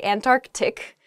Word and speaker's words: Antarctic: really oh I guess when you're saying this word quickly you might leave out that first sea in the Antarctic so don't say that don't do that say Antarctic the the very very cold